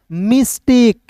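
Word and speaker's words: mistake: जैसे दोस्त यहां पे एम आई S miss plus T ए के ई टेक। तब क्या बना दोस्तों? मिस्टेक।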